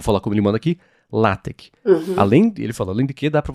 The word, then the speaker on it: LaTeX: E ele falou, inclusive, que se pronuncia LaTeX, não LaTeX, que é um processador de texto, né?